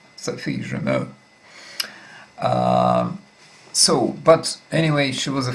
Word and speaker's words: Germain: I know that in Russian her name is pronounced Sophie Germain, and from what I can understand here, in French we shouldn't pronounce the final N, Sophie Germain.